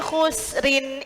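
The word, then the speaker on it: خسر: Nah, jadi khusrin ini ada dua cara baca. Kalau jenengan berhenti, ro-nya tebal. Kalau jenengan lanjut, maka ro-nya tipis.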